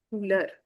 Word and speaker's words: couleur: And in French we call the colors le couleur. O U gives you the U sound.